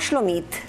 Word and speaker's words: Shlomit: recién fresquito el horno me llamo slomit así se pronunciaría en Israel en realidad pero como aquí eh no hablamos en agudos sino que en grave y